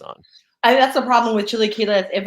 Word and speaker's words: chilaquiles: They have, and I'm gonna mispronounce it, chilaquiles verdes. It's basically Chilaquiles.